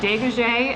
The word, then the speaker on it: Degaje: for joining me today i am here at de gaje and now i should have asked you instead of pronouncing your last name no it's perfect is